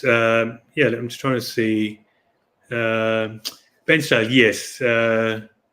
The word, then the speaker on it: Bairnsdale: Did I pronounce that right? Bairnsdale, Victoria? Bairnsdale, yeah.